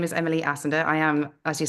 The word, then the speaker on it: Assender: I'm Johnny, and today I am chatting with Emily Assender, who's the COO and the co-founder of Revelesco. Did I get the pronunciation right?